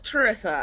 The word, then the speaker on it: Terrisa: So it's Terrisa. I always tell people, think Melissa, Terrisa.